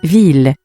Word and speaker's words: ville: Ville. Ville. Ville. On a deep level, this is a two-syllable word. That final letter E is often dropped, though it is still heard when you sing.